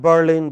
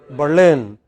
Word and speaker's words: Berlin: So in English it is pronounced not as Madrid but as Madrid. Not at Berlin but Berlin.